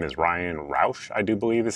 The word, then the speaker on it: Routh: So the big thing we know is the person who is accused of doing this, his name is Ryan Routh, I do believe is how it's pronounced.